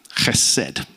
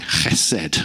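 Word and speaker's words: חסד: Hesed. And as with many Hebrew words, it's got that kind of hacking sound at the beginning, hesed.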